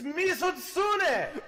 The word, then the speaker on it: Mizutsune: It's Mizutsune. Gotta pronounce it the right way.